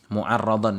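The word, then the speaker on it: مُعَرَّضًا: Dan karena manusia itu rentan, ya, mu'arradan di sini bacanya, ya. Mu'arradan, ya, bukan mu'rid, tadi saya salah baca, ya, di sini mu'arradan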